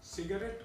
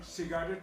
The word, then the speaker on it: सिगरेट: इसी तरह से कुछ लोग सिगरेट का उच्चारण सिगारेट बोल करते हैं, या होटल का उच्चारण होटल करते हैं, या कैमरा का उच्चारण कैमेरा करते हैं।